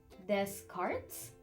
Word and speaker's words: Descartes: des Cortez des cartes Rene Descartes pronounces Descartes it's best known